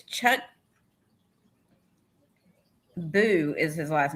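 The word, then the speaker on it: Boux: It's Chuck Boo is his last name. B-O-U-X, but it's pronounced Boo.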